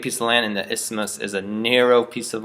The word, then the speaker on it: isthmus: of land big piece of land and the isthmus is a narrow piece of land that connects